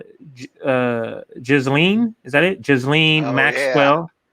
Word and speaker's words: Ghislaine: We're talking about, I think you say her name, Ghislaine.